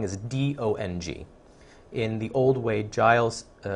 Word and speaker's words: Dong: So if there's any confusion, it's not, his name is not Tung. it's Dong. It's pronounced with a D sound.